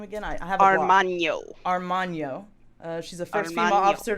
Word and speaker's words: Armagno: Armagno.